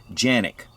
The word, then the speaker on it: Canik: does have the Picatinny rail three slots now Kanak which these are made in Turkey Kanak is actually pronounced in Turkish genic but Turkey is also pronounced for K so